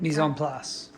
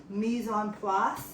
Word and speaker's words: mise en place: Mise en place. Mise en place.